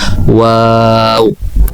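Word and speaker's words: واو: এর উচ্চারণ হবে ওয়াও।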